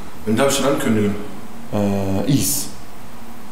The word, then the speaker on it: EES: Is. Is. Genau. IES? IES auf Englisch ausgesprochen.